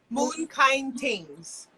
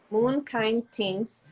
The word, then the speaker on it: Moon Kine Tingz: Can you pronounce that for me? Moon Kine Tings. Moon Kine Tinghz.